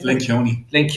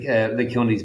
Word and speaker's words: Lencioni: Patrick, pronounce his name? Lencioni.